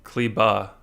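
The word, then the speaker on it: Kleber: and porzingis how can you say his name cli ba you don't say the libre that's that's just how it's pronounced okay yeah who do you like there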